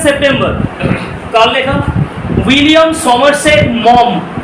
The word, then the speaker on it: Maugham: William Somerset মম, মগহ্যাম নয়, হ্যাঁ দয়া করে প্লিজ এই উচ্চারণটা করে কেউ মগহ্যাম এরকম টাইপের উচ্চারণটা হচ্ছে উইলিয়াম সমারসেট মম, ঠিক আছে?